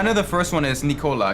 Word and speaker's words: Nikola: the first one is Nikola because it's pronounced just like the the soda and uh cyberpunk the